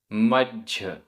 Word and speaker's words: मज्झ: मज्झ आधा ज झ, मज्झ।